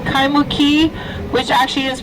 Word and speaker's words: Kaimuki: This area we're now in is called Kaimuki, which actually is pronounced Kaimuki, and it means underground tea oven.